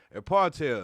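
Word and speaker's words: apartheid: up real quick okay a partel yeah that's how you pronounce it a partel 1948 to 1994 and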